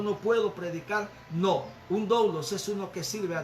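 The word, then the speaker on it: δοῦλος: Algunos la leen como dulos. No se puede leer dulos porque el griego no se puede leer igual que el inglés. El griego se lee como es y se escribe doulos, y a su siervo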